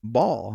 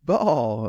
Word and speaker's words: Baal: this other god, this idol called Baal, okay, or Baal, or there's a bunch of different pronunciations of it, but worship this false god, okay.